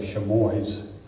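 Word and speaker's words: Chamois: in the small Mid-Missouri town of chamoy or as the locals say sheboys in northeastern Osage County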